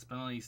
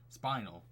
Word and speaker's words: Spinelli: years to realize that spinelli's name comes from the gemstone spinel that's how it's supposed to be pronounced because i was thought it was pronounced spinal like spinal tap ah